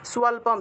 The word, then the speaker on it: স্বল্পম: তাহলে প্রত্যয়ন বিদ্যতে, স্বল্পম অপ্যস্য, স্বল্পম, এই যে তারপরে অ আসবে, ম যেহেতু আছে অ আসবে, স্বল্পম দন্তীয় স্বর নিচে বফলা থাকায় সুয়া উচ্চারণ, স্বল্পম অপ্যস্য ধর্মস্য, দন্তস্বয়ের সাথে জফলা থাকায় সিও উচ্চারণ হবে ক্রায়তে মাহাতো ভয়াত, ক্রায়তে মাহাতো ভয়াত।